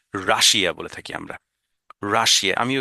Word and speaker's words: Russia: দেখেন রাশা, রাশা, ইউ এর উচ্চারণটা আ, আর এখানে আইটা উচ্চারণে হবে না, আর এই যেহেতু ডবল এস এখানে আছে, রাশা, রাশা, হ্যাঁ, রাশা, রাইট?